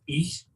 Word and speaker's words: Aodh: dedicated to Saint Eadh, Aodh, which I believe is pronounced Eadh.